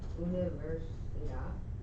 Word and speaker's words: universidad: Tengo un examen de inglés en la universidad. Very good. Universidad. So there's a lot of syllables, but he still did the right thing by accenting the last one because it ends in a consonant.